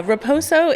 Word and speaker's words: Raposo: Raposo. It is a Portuguese name.